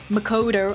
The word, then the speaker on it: Makoto: I really like how you pronounce Makoto. Thank you. They've really made it Englishified. I just I just think of the Japanese pronunciation, but it's just like makoder.